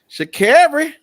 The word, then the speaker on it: Sha'Carri: Sha'Carri.